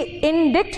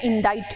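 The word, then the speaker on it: indict: क्योंकि इंडिक्ट नहीं होता है, ये सी यहाँ साइलेंट है और आई का प्रोनाउंसिएशन यहाँ ई नहीं आई ही है, ठीक है। अब प्रोनाउंसिएशन इसका इंडाइट है।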